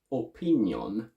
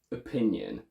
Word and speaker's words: opinion: spot a foreign accent the stressed syllable here is pin so the two o's on either side are schwas and we go from opinion to opinion that's all i need